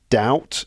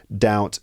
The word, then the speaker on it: doubt: So it stopped everyone feeling doubt. And I just wanted to remind you doubt. Uh the B is silent. So doubt. Doubt.